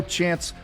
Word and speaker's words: Chans: Because it's, guys, if you don't know Chance, it's chance, like take a chance.